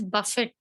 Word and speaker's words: buffet: See, it is written as buffet, but you pronounce it as buffet.